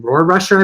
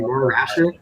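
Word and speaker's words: Rohrwasser: The Patriots ended up going with that rookie kicker from Marshall, Justin Rohrrusher, I believe that's how you pronounce his name, Rohrrusher, I think.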